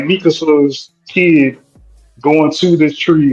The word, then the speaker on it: Mikasa: Miska. I said it right. who are you talking What's about? her girl? Oh girl, his sister, his adopted sister. Oh, Mikasa?